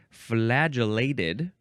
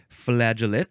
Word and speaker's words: flagellate: uh I of I I think it's pronounced the same way flagellate flagellate flagellate um this is a